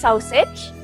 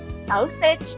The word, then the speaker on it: sausage: What is sausage? Sausage means sosis. Nah, bacanya jangan sausage ya, bacanya sausage.